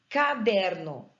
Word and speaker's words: caderno: com a regra tão caderno tem uma sílaba tônica eu falo caderno eu falo caderno ou eu falo caderno eu falo caderno então der é a sílaba tônica dessa palavra ela só não é